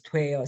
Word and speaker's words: 돼: So even if they look different, they are pronounced the same. That's why a lot of people become confused and they don't know if it should be spelled 되다, 돼, or this 돼. They sound the same.